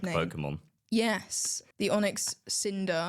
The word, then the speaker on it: Onyx Cinder: a Pokémon yes the Onyx Cinder I think I said cylinder but it's not that so there's a little